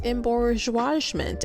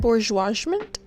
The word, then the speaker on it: embourgeoisement: be asking rather um what is embargoment and why is she pronouncing that word wrong i still honestly don't even know how to pronounce it let me look it up and bourgeoisment yep that's what we're going with because that's what youtube said um but what is